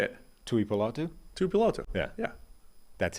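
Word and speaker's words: Tuipulotu: It's one of those few names that's actually pronounced exactly as it's spelled. You're just doing that thing Tui Apolotu.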